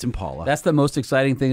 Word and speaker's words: Impala: super exciting super fun is it Impala or Impala because it's all different people say it different ways it's Impala that's the most exciting